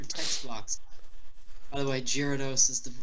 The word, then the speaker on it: Gyarados: By the way, Gyarados is the correctly pronunciated.